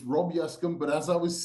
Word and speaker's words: Yescombe: is a lot but his name is Rob Yami Rob thanks for doing this I know I didn't pronounce your name right pronounce it correctly not